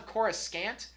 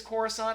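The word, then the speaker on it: Coruscant: then why bother but he kept calling chorus on chorus scant and I'm pretty sure it was always chorus on that wasn't a pronunciation that began with the prequel trilogy I'm pretty sure that was always the pronunciation so somebody got that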